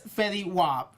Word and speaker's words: Fetty Wap: Avery, for Oh yeah, for, Fetty Wap. for correcting Bowman on Fetty Wap. Fetty And Wap. he said it right. He was like, "No, that's Fetty Wap."